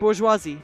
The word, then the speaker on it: bourgeoisie: and unfair oh I did say it right bourgeoisie is bourgeoisie okay good excellent I shall see